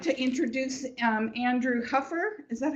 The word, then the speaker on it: Andrew Huffer: anyway and today I'd like to introduce um Andrew Huffer is that how you pronounce yep he uh is a board certified